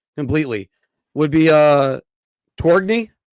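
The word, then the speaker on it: Tourigny: I'm gonna butcher his name completely, would be Torgny. How do I pronounce that? Andre Tournier. Tournier, thank you.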